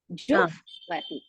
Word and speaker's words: जुह्वति: First you should pronounce Ju, then Ha, then Vati. Jufvati.